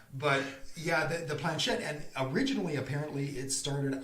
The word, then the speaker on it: planchette: And what we're talking about here, it's the Planchette, and I think that's the way it's pronounced. We're Americans, so we can call it Planchette if we want to. But yeah, the Planchette, and originally apparently it started off.